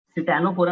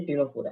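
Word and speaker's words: Ctenophora: अच्छा, टीनोफोरा में इसकी साइलेंट है, समझ आएगी वाली बात। तो मैं क्या लग रहा होगा, मैंने साथ में क्या बना रखा है, सी टाइप। ठीक है, तो ये सिटानोफोरा नहीं है, ये टीनोफोरा है।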